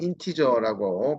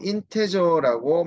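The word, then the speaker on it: integer: 자, 인테저 또는 인티저라고 발음하시면 되는데요. 자, 요 인테저라고 맞추신 다음에 자, 요거를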